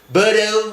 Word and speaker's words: borrow: Borrow, meminjam. Meminjam, borrow. Ow, ini bacanya ow.